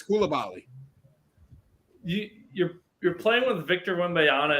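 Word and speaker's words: Coulibaly: I feel bad for Colabit. How do you say his name? Color, I don't know. We'll figure it out. We didn't know how to say it. It's Koulibaly.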